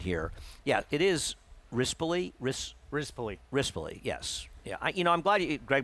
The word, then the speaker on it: Rispoli: Rispoli, yes.